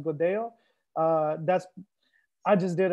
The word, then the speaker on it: Godello: Um, the two L's is is a Y sound. So, a lot of people uh will mistakenly call this godello. It's it's actually pronounced godo.